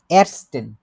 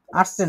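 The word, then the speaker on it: Erstens: এরস্টেন, আর্টসেন না, arts arts হচ্ছে doctor, আবার ওটা অন্য জিনিস হয়ে যায়।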